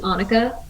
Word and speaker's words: Anika: it can be but yeah it's annika like monica okay awesome that is